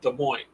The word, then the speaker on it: Des Moines: spelled that way but it's supposed to be pronounced Des Moines so it just depends oh The Gummy Bear